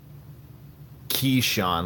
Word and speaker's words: Keshawn: that's cool that's cool Keshawn like the skeleton key okay sorry about that